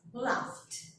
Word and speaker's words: laughed: So it's when you say like F, you need to pronounce this past simple and past participle for laugh with the T sounds. Laughed.